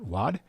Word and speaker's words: Wade: this is uh makot Wad and uh she's she's okay if you say the last name Wade because that's how it looks like it should be pronounced in English but um I'm trying